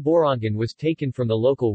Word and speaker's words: Borongan: Pronounced Bo-Rong-Gan, the name Borongan was taken from the local word Barong, which in the Waray-Waray language means fog.